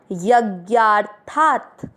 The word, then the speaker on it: यज्ञार्थात्: पहला चरण य में मिक्स करेंगे। यज्ञा, था के ऊपर आधा र है, उसको ज्ञा के साथ पढ़ेंगे। यज्ञार, था के साथ आधा त, थात। कैसे शब्द पढ़ा? यज्ञार्थात।